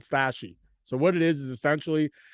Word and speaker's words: Stashii: It's called STASHII is how it's spelled. It's called Stashy.